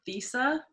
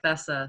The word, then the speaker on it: Thessa: to make it clear my first name is pronounced visa okay it's not if you go get it wrong all the time because it's spelled like thisa so ah and thank